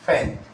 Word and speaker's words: feign: तो देखिए फैन लिखा हुआ है, स्पेलिंग क्या है? FEIGN, FEIGN, फैन।